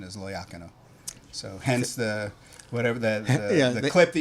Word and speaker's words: Loiacono: that I was raised saying is Loiacano. That's the way I say it. But the proper pronunciation is Loiacano.